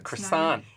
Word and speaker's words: croissant: So try to go to Paris Bakery and ask for a croissant. Right. And I'm like, A croissant.